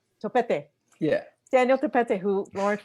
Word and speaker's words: Topete: How do we pronounce Daniel's last name? Topete? Topete.